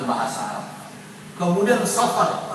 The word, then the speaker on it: Safar: pengucapan bahasa Arab kemudian Safar tidak boleh dikasih alif lam assafar kemudian berikutnya adalah Rabiul